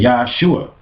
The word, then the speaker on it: Yeshua: They wouldn't pronounce his name like that. His name would have been Yeshua.